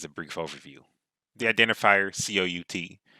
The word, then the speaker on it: cout: The identifier COUT, pronounced cout, is actually an object.